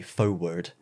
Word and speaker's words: forward: in the american where instead of the is that a forward you say foe word like there's no r in it and there's another